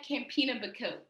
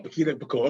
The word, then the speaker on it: Campinha-Bacote: But anyway, as we move forward, we have Sister Nia Campinha-Bacote. Did I say it correctly, sis? Nia Campinha-Bacote. Oh, Campinha-Bacote.